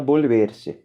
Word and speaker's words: volverse: verbo borber se né se escreve vôlei ver se mas se fala bolo ver se e da mesma forma